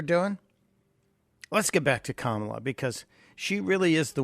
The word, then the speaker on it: Kamala: Yes, the comprehensively incapable, well, her name is pronounced Kamala.